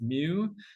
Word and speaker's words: mu: thing pronounced new in you this thing here pronounced mu Nu is our sample accuracy our sample average